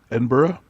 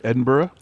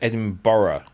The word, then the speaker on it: Edinburgh: that is all right but a lot of Americans say edin Bor they put an extra EDB or edinb yeah Eden Burrow how about gler is